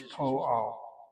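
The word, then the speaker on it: פועל: Notice how I pronounce the word po. I don't say po. I'm hitting that medial hulam again and again and again. Whenever the medial vowels occur, it normally attracts the accent.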